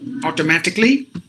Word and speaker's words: automatically: because A's are silent any word ends with c a l l y the a must be silent so automatically basically categorically phonetically magically